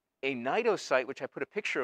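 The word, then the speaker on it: cnidocytes: these distinctive cells called nitrocytes get it the c is silent so just pronounce it with an n a nito site which i put a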